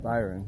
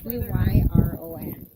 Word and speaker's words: Byron: Byron, that's how you say his name. Well, B-Y-R-O-N.